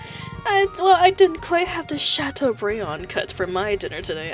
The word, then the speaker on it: Chateaubriand: I didn't quite have the Chateaubriand cut for my dinner today.